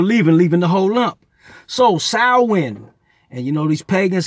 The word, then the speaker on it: Samhain: But then you throw in the pagans who were into something called, it's spelled Samhain, but it's pronounced, I believe, Samhain. Samhain.